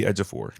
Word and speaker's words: Ejiofor: Zuby Ejiofor.